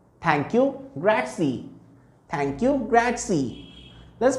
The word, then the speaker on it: grazie: meet you piacety thank you gracie thank you grazie let's pronounce it with me thank you grazie how